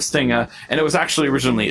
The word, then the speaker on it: Stinga: I think I either mispronounced it or someone called me Stringa instead of Stinga, and it was actually originally a joke.